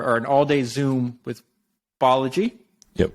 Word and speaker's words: Balaji: I always want to say Balaji, but it's Balaji. Right? I think either will work. Like how you pronounce it says more about where you're from than what he wants it to be.